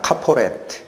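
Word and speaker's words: כפורת: 자, 저 속죄소라는 단어도 히브리어로는 저렇게 읽힙니다. 카포레트.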